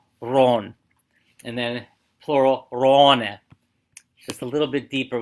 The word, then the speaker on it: Raane: Then the plural form of it becomes a little more difficult because it goes from Ron to Raane. So double A is pronounced like an O, like Urglaawe.